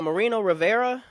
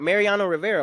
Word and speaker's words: Mariano Rivera: My s your ass down is going to Marino Rivera. This is the the former Yankees or closer right pitcher. I'm Mariana Rivera. Mariano Rivera.